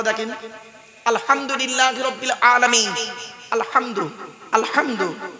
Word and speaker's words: আলহামদু: আলহামদুলিল্লাহি রাব্বিল আলামিন আলহামদু আলহামদু এই গলার ভেতর থেকে হেটা উচ্চারণ করবেন আলহামদু মানে হচ্ছে সমস্ত প্রশংসা